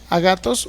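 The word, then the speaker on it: ἀγαθός: obras en el griego literalmente es la palabra a gatos así a g a t h o s a gatos Por lo menos así se pronuncia o también se puede decir agatón es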